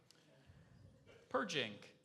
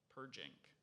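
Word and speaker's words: perjink: Purging. Would you say that again, please? Purging. Purging. What's the definition? Purging. A purging is an adjective, and it means precise, neat. Purging.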